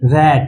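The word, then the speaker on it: rate: आर ए टी रैट। लेकिन अगर वही टी के बगल में इ लग जाए तो इसका उच्चारण किस में बदल जाएगा? रेट।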